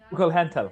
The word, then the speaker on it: Kugelhantel: So I had this conversation with this, Kugelhantel, right? That's how you say it in German.